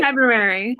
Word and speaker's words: February: from february i said february you're supposed to pronounce the r oh my god if